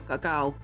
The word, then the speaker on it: cacao: And the, well, cacao, which is technically how what it's all originally from, cacao, is how it's pronounced.